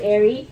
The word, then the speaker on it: Aarie: is Airy now it's very very easy to say right like two syllables Airy not so easy to